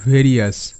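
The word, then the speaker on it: various: তো এখানে ফাস্ট শব্দ আমরা যদি ধরি তাহলে ভেরিয়াস ভি এ আর আই ও ইউ S Riya's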